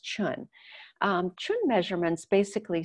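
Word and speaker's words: cun: called the chun measurements it's spelled c-u-n pronounced chun chun measurements basically say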